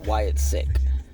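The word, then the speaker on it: Wyatt Sicks: say it right cuz it's sick the word sick s i c k with the S at the end uh so we're go we'll just call it Wyatt sick um or Wyatt 6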